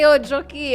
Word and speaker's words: Njoki: Like the real cute pronunciation. Njoki.